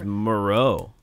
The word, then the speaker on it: Moreau: And he was Moreau. Moreau. Yeah. And yeah. that's how Connie Moreau spells her name.